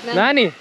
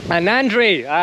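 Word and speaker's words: நன்றி: How do you say thank you again? Nandi. Nandi, yeah? Nandi. Yes, Nandi. Nani. not Nani. Nandi. Nandri.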